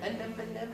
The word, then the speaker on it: anemone: I say it wrong, so sea anemone, And then, let's do Nemo here. anemone, anemone, thank you, Kind of like an enemy.